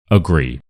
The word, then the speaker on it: agree: We have this word here agree. And here we have two syllables uh and gree. So I just want you to listen to how I say it and work out which part I say louder and more clearly. Agree. Agree. Agree.